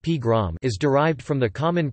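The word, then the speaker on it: погром: First recorded in 1882, the Russian word pogrom, pogrom pronounced pgrom, is derived from the common prefix po and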